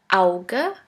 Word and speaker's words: Auge: The second letter combination is A, U, which is pronounced like ow, ow. Here we have the example of the word Auge, which means eye.